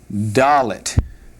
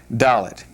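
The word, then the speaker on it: דלת: Doll it.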